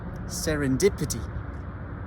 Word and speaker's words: serendipity: histoires guti nombreux députés serendipity écoute bien pour voir où se placent l'accent tonique sert une des petits